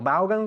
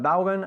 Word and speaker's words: Vaughan: You spell the word Vaughan, V-A-U-G-H-A-N. ¿Y cómo se pronuncia en realidad? No se dice Vaughan, aunque aquí sí. Se dice Vaughan. Vaughan? Vaughan, así.